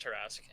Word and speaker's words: Torrasque: I've always called you Tora because I don't really know how to pronounce it all the way, and I've never bothered to ask because I've never met you. So that's all right. It's just Torrasque, and online I mostly go by Tor.